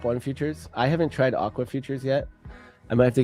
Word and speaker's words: Aqua Futures: Oh, it's Aqua Futures.